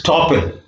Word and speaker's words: estoppel: ESTOPPEL is stoppel.